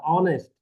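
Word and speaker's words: honest: एच है लेकिन उच्चारण उच्चारण उसका वोवेल से होता है। ऑनेस्ट तो अ आ इ उ ऊ कैसा? वोवेल ना है।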